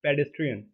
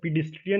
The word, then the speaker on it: pedestrian: Next है हमारे पास पेडेस्ट्रियन। मैंने प्रोनाउंसिएशन समझ में आ गया होगा, पीडिस्ट्रियन नहीं बोला, पेडेस्ट्रियन बोला।